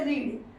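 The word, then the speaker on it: read: ईडी नहीं मिलेगा जैसे किसम नहीं मिलेगा जैसे रीड वह पढ़ता था यानी रीड रीड इसका सेकंड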